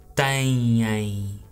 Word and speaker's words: têm: And the verb right there, it's pronounced têm.